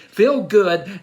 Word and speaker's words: Phil Good: Feel Good. Now it's not F-E-E-L. It's P-H-I-L-G-O-O-D. Feel Good.